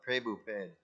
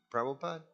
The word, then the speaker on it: Prabhupada: I've been reading the books of uh prabhupid go what prabhupas you mean prabhupada oh that's how you